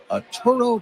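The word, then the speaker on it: Atturo: A Toro Tire, you spell it A-T-T-U-R-O.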